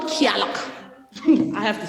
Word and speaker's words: Gaeltacht: It's called Gaeltacht.